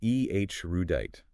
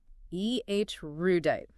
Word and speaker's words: erudite: It's ERUDITE. ERUDITE. Got it. 3 syllables. Yep. ERUDITE.